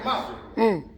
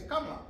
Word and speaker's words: Kamala: Her name ain't Kamala. Her name is Kamala. Huh? Oh, it's a little different now, right? Yeah. See, they sister girl her. Her name is Kamala. But that's an Indian pronunciation.